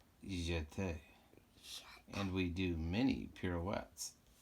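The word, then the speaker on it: jeté: plie we shot a you say it like this you jet and we do many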